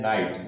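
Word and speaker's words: night: Next है नाइट, नाइट में देखें जी एच क्या आ रहा है, साथ में है और उसके पहले क्या लिखा है, बबल लिखा है, इसलिए जी एच को प्रोनाउंसिएशन नहीं किया जाएगा।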